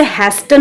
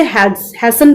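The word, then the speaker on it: hasten: हैस्टन बताया था मैंने आपको, जल्दबाजी करना, इसे हैस्टन नहीं पढ़ेंगे, मैं फिर से बता रही हूँ आपको, इसे हैसन पढ़ेंगे। ठीक है, हैसन, यहाँ पे टी साइलेंट है, तो हैसन मीन्स जल्दबाजी करना।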